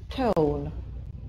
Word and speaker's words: tone: Tone. Тон. Не tone. Понимаете? Не русский. Tone.